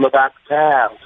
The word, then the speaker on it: Le Batard: So the actual spelling is Lebatard. So that could be Le Batard. It could be Le Batard. It could be Dan Le Batard. So I didn't have the correct pronunciation. So I'm going to go with it's the Dan Le Batard Show.